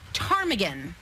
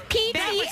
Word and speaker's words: ptarmigan: There's a silent P that always gets you.